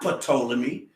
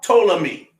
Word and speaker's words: Ptolemy: they say it's not patolli me because the p is silent that's what hold up man so under the greek it's pa ptolemy eight symbols right the